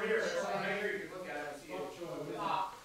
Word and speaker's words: bok: bok. Bok like a chicken.